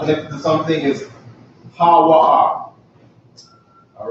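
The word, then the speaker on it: הוא: connected to something, is ha-wa-ah. All right? Ha-wa-ah. Ha-wa-ah is how you say he when it's lonesome, all right?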